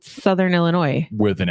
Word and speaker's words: Illinois: that sayate again Illinois that is not what you said Southern Illinois you put an S on the end of that you did I said Southern Illinois with an S the